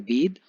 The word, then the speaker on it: bathe: बेद जो वर्ड है BATHE, उसको हम प्रोनाउंस करते हैं बेद, और BATH जिसको हम बाथ प्रोनाउंस करते हैं।